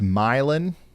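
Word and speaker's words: Milan: radar Omega camera here it's pronounced milin milin my bad got some strong winds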